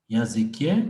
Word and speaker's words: языке: La prononciation correcte, c'est языке. Mais si tu prononces языке, c'est pas très grave. On va te comprendre, sauf que c'est la prononciation régionale.